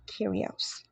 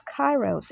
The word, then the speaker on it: Kyrios: Spirits okay so first of all the correct pronunciation of the word is actually curios so for a lot of you you would have been introduced to this word as chyros and that's because it's a lot of persons